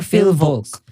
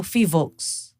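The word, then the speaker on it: PHIVOLCS: Fivox or Filvox? Kasi yung walang L eh. So Fivox.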